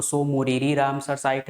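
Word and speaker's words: Tso Moriri: पढ़ते हैं है ना टी हम यहां पर एक तरह से साइलेंट मारते है तो सो मोरीरी और सो सोकर ये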